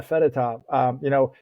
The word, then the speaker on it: Fedotov: Yeah, Fedotov.